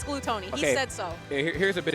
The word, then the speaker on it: Glutonny: yeah he did confirm that his tag is pronounced like blue Tony I remember it was like a whole meme where people were saying oh you're saying it wrong and really it's gluttony and a lot of that but ya know